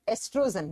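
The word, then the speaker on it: estrogen: hormone कौन सा है एस्ट्रोजन लिखा जाता है स्पेलिंग ओ से प्रोनाउंस करते हैं तो ओ साइलेंट एस्ट्रोजन ये एस्ट्रोजन है इसी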